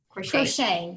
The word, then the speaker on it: crocheting: And did I pronounce this correctly? Crocheting? Crocheting, yes, crochet crocheting. is productive because it is something that you can wear rather than having to buy retail.